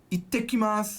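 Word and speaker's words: 行ってきます: You say, "Ittekimasu." I'll be back. Ittekimasu. There's a double T.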